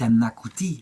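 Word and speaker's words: Annakutty: La petite Anna Kuti, c'est ainsi que le nom d'Anne se prononce dans la langue du pays, est confié par son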